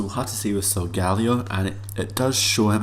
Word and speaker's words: Solgaleo: I think it is, Solgaleo, or Solgaleo. I was thinking Solgaleo because of the line, like this sort of the zodiac sign, Leo, but Solgaleo I think